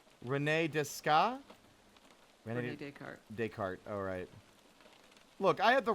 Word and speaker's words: Descartes: Descartes, alright. Look, I had the right idea. I just executed it wrong. It's like half those letters aren't relevant to the pronunciation.